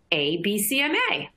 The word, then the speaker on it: Abecma: They call it ABCMA. It's spelled ABECMA, just so you know exactly what it is that they're doing.